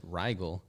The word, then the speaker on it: Rigel: So the first time I saw it, I said Rigel. Yeah, we were like, oh, Rigel. Like, how do you pronounce this?